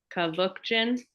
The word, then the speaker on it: Kavookjian: It's 3 syllables. Kavook, like book, Jin, like gin and tonic. Kavookjian?